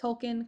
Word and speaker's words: Tolkien: I know some people say Tolkien. That is correct. Tolkien, correct.